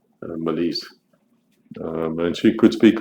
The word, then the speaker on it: Mélisse: there's no a because This is the way you would say her name in French. Malise.